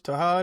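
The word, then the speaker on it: Tahaad: Tahad it is. Tahad, Yeah, I don't want to Tahad. get that man's name wrong.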